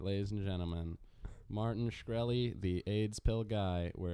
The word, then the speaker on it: Shkreli: Shkreli?